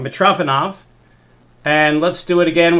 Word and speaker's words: Mitrofanov: Okay, so this is the famous problem by I always said the name wrong. Mitrofanov.